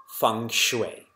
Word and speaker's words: Feng Shui: does chit mean consciousness though it's spelt Feng Shui it's pronounced Fung Shui because I see a